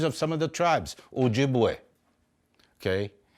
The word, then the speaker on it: Ojibwe: some of the tribes Ojibwe okay some people pronounce it Chippewa Odawa some people say